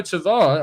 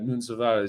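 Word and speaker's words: Tavares: england's under 20s and nuno tavare or nunes uh as we should pronounce him correctly uh nunza has scored and got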